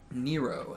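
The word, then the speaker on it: Nyro: the name again laura what nero n-y-r-o i'm pretty sure that's how you pronounce it at least that's how you pronounce it according to wikipedia um and yeah other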